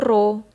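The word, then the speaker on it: rho: tadi Kalau massa jenis disimbolkan dengan huruf P tapi enggak kayak P nah bacanya itu roh terus massa jenis merupakan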